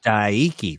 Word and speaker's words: Daiki: Uh kai de nakamura daiki is diki.